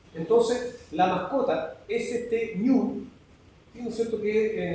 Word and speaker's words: GNU: En el caso de la GNU, ¿sí?, la GNU, ¿no es cierto?, en inglés, la GN, la combinación GN, se pronuncia N, ¿bien? Entonces, la mascota es este New, ¿sí?, ¿no es cierto?,